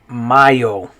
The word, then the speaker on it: mayo: In Spanish, the way you would pronounce this is mayo.